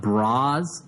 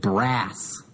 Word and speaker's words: bras: she was hanging out BRZ but bras is spelled b r a s and I had never seen bras spelled as a plural so I said uh I said brass it was an embarrassing